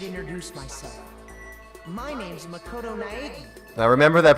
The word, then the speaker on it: Naegi: My name's Makoto Naegi. Now remember that pronunciation.